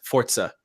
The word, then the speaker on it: Forza: By the way, I've heard it's pronounced properly as Forza. I'm correct. Yes, not Forza. It is Forza.